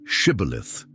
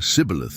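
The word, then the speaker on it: Shibboleth: The Ephraamites couldn't pronounce the esh sound in Shibilith, saying cibilith instead.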